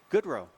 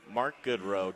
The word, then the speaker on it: Goodrow: Goodrow. Mark Goodrow. It's right there in front of me, but it's spelled like God Renault. Mark Goodrow, Trubucha.